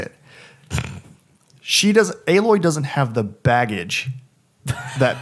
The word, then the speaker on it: Aloy: Aloy doesn't have the baggage that past Lara Croft games have given to the player with okay.